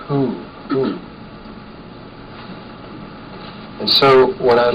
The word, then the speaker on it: Hu: the sound is it's it's spelled hu usually in sufism anyway and it's it's just the sound is who and so what i'd